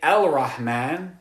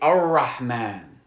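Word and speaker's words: الرحمن: We don't say Al-Rahman, we say Ar-Rahman.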